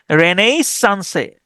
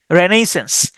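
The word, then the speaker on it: Renaissance: আমি উচ্চারণ করি এরকম রেনেইস সানসে। রেনেইস সানসে সান এভাবে উচ্চারণ করতাম। তাহলে আরই এন এ আই রেনেই। রেনেইস রেনেইস আই এস এস এ এন সিই রেনেইসেন্স রেনেসা বা হচ্ছে নবজাগরণ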